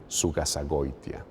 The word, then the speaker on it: Zugasagoitia: So the way I pronounce it, which would be the Spanish way of pronouncing it, Right. so I pronounce it Julián Zugasagoitia. Sugasagoya.